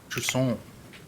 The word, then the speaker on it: Jusant: Chant, the French nautical to term for receding tide. Chon, you have to say chon. The French word, pronounce it friendly.